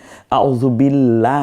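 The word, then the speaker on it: أعوذ بالله: সহি সুবহানাল্লাহ পর হবে আউজুবিল্লাহ না আউজুবিল্লাহ কোনটা হবে আউজুবিল্লাহ বারিক হবে এমনি করে করে আল্লাহু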